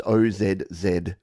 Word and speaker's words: Aussie: in the chat a-u-s-s-i-e I know it looks like it should be Aussie but if you want to say it like Australians say it you say Aussie so pretend it's Ozzy and yes we say z o z z y so Aussie is the